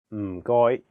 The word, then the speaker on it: 唔該: The first character is in a very low tone, 4th tone. It sounds a bit like when someone is thinking about a plan and they say, Notice that there is no vowel in this syllable, so you have to really stress the sound. And then the second character is in a high flat tone, 1st tone. 該, 該, Altogether, it's...